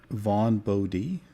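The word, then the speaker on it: Vaughn Bodē: it could be I mispronounced the name. It's Vaughn Bode.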